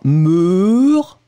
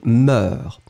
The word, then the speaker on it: moeurs: avez après un air donc le son il est un tout petit peu moins profond que le e donc c'est pas mûres ce serait très difficile à prononcer mais ses moeurs encore une fois à